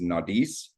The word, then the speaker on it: Naudiz: Um the pronunciation for it is Naudiz.